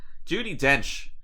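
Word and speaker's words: Judi Dench: i speak from experience judy dench coincidentally is a wench that's why i've had all these problems with her name it rhymes with wench right um that's why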